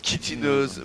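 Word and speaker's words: chitineuse: Carapace tineuse se prononce kitineuse, merci.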